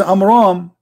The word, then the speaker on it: Amram: Because Muhammad, he could not even pronounce it correctly. So the correct name is Amram.